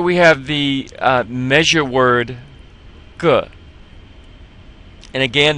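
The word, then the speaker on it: 个: Alright, here we have the measure word ge. And again, that E sounds somewhat like and duh. So we put a G before it and we come up with ge.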